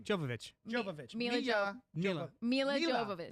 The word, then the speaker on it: Milla: Milla Jovovich is... I butchered it.